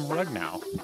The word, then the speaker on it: Rugnao: And joining us now is Richard Abraham Rugnao.